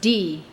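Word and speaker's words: dhīḥ: DHIH, pronounced D.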